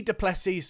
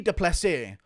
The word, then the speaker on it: Du Plessis: and I can see du plessis sorry I need to pronounce his name correctly here I can see de plessis um finishing Darren's Hill